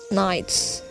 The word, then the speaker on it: knights: do you know about knights what do you know about knights here the silent letters is in no the k is silent here and the knights are